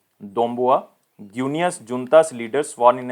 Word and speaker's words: Doumbouya: Next, Colonel Mamadi Dombria. So if my pronunciation is wrong, then please forgive me. It is Mamadi Doumbouya, Guinea's junta's leader, sworn